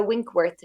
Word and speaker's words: Winckworth: you know you're everywhere with my name winkworth people can find me winkworth is actually spelled with the ckw-i-n-c-k-w-o-r-t-h or you guys in the